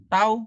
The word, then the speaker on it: tau: Nah, ini bacanya tau ya. Jadi tanda Cak T bergaya itu adalah tau.